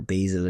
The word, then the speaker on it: basil: That's basil or basil, if you pronounce it differently in America.